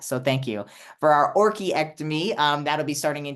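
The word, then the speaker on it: orchiectomy: correct Dr Ronnie uh it's actually ory ectomy ory ory ectomy it's like an orchid yeah okay because I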